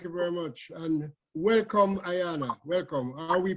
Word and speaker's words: Ayanna: very much thank you very much and welcome Ayanna welcome are we pronouncing your name correctly yes you did it's Ayana okay could you just start off by hello